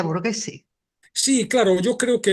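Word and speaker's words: Borghese: bergese ese tío bueno Villa borguese que también es con gh se dice Villa borguese Sí claro yo creo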